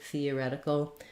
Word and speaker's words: theoretical: here first of all the first th sound is the voiceless th so you don't want but rather fee theoretical then i'm gonna rewrite